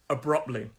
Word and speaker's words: abruptly: means very very suddenly three-syllable word abruptly stress is on the second syllable sorry i'm losing my voice abruptly abruptly abruptly brilliant word